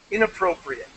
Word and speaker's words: inappropriate: some words here um inappropriate inappropriate not eight try not to say eight inappropriate and you were saying